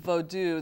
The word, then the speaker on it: vodou: I'm using vodou, that word, that's the Creole spelling and pronunciation for Haitian voodoo.